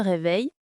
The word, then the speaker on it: réveille: Par exemple, je me réveille à 7h. Et attention à la prononciation. On dit se réveille mais on ne prononce pas le e à la fin.